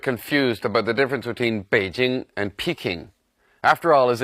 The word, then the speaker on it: Beijing: name in my view peking is just a wrong spelling that became popularized many years ago the city's name is pronounced beijing and it should be spelt in English with a B however the name Peking